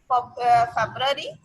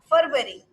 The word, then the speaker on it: February: Most of the people pronounce it what? February. February, but it's also wrong. So what's the correct one? Let's see here. It's a February. Okay, what's that? February. Okay, not February or not February.